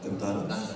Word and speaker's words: Kantara: Yes, starting with KGF, Kantara, if I can, that's the right way to say it? Yeah. Kantara.